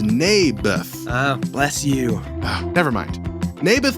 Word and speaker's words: Naboth: You mean Naboth? Yeah, that's what I said. Mayberf. I think you're saying it wrong. His name was Naboth.